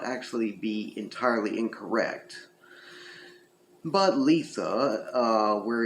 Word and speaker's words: Litha: be entirely incorrect but Letha uh where it's pronounced more like you have two e in there as opposed to the I is generally considered the